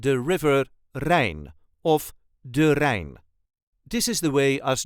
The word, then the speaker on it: de Rijn: the River Rain of durain this is the way us duchies say durain R there is no emphasis d r all the letters will be pronounced no rolling R is needed if you're having trouble